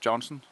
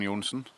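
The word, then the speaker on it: Johnsen: Hosts, your hosts, Paul Black and Johnson. Yunen. Got to say my name in the correct way.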